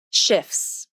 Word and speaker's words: shifts: Did you hear a T sound? Shifts. Nope, there is no T sound in the word shifts, although the letter T is in the spelling.